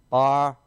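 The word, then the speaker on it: ברוך: And then we got our bet, our ah, our resh, our u, and our final chaf. So it makes the ch sound, okay? Baruch, baruch, baruch. Baruch, two-syllable word there.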